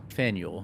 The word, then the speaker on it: Faneuil: actually said it yeah it's Faneuil Hall fanuel like it's n-e-i-u it's like mule like Nathaniel yeah Neil mule did